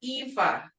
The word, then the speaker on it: efv: Just like I give the word ifa, which is EFV or EFA, ifa. You can say ifa, like I learned, or Eva.